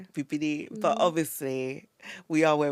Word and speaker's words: Bibinee: Cuz I don't want to embarrass myself because So, the true pronunciation is Bibini. There we go. Bibini.